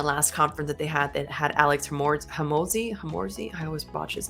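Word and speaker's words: Hormozi: They have, in the last conference that had Alex Hamorzi. I always botch his name, poor dude. I'll make sure I insert how you say his name. Hamonzi.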